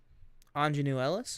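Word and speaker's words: Aunjanue Ellis: Can you pronounce her name by chance? Ingenue Ellis?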